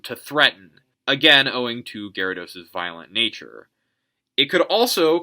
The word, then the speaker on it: Gyarados: And the other thing is, like, it's unintuitive to spell. It's Gyarados. Like, if you see it, you would think Gyarados. If you had to spell it, you would probably go Garados.